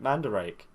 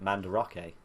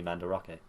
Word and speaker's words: Mandarake: this other one we watched they went into Mandrake and i was like i buy things from there me too but they actually pronounce it manda rocky I'm do like you so new new bit